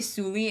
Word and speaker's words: Sully: no the movie starts but you say Jake very like a human but it's you say Suli instead of self has a ton